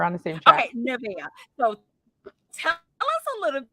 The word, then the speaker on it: Nevea: That's exactly how I pronounce it too. So we're on the same track. Okay, Nevea.